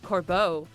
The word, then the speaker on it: Corbeau: One of those trainers, Corbeau, is the boss of the Rust okay. Sure. It's not like cordon bleu, but okay.